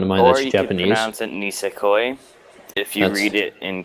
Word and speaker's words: Nisekoi: in the future but so first one is ness coy or that's how I've learned to pronounce it from friend of mine are Japanese Mountain nisekoi if you read it in kanji Ramon Ramon